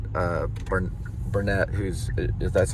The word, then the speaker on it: Barnett: Uh, Bern Bernett, who's that's how you say her name.